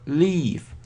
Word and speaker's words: leave: Leave. Обратите внимание на произношение leave. Долгий звук покидать.